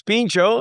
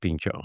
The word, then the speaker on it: Pincho: Am I pronouncing the name right, guys? Yeah, so it's Pincho and then the burger Yeah, the the burgers and kebabs is sort of just like our descriptor.